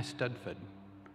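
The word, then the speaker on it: eisteddfod: is gorset spelled g-o-r-s-e-d-d and the last i studford spelled e-i-s-t-e-d-d-f-o-d ahwan translates as inspiration whether that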